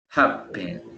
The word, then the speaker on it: happen: No es happen, sino que happen. Happen. El acento lo tiene al inicio.